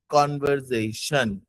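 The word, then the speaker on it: conversation: कॉन्वर्सेशन. ठीक है, इसको ब्रेक करना, वरना लोग प्रोनाउंसिएशन में भी इसकी कभी कभार गलती कर जाते हैं. It's cone, CON cone, were VER were, SAZTION शन, कॉन्वर्जेशन.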